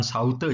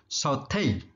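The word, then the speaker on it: sauté: pakai dulu perhatikan pengucapannya ini bacanya bukan saute ya tapi short hair artinya menemuis atau menumis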